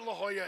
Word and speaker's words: La Jolla: course I know what La Jolla is it's it's pronounced like in Spanish I get it now